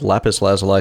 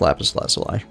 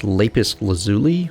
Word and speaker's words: lapis lazuli: I think it's lapis lazuli. I think I originally tried to teach myself to pronounce it as leapis lazuli when I was a kid.